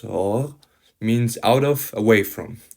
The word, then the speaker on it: hors: Now, on the fourth remark, hors, pronounced hors, means out of, away from.